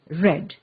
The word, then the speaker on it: read: of beat remains beat read is another verb that does not change in spelling when converted to the past tense however the pronunciation of the verb changes the past tense of read is red listen to the story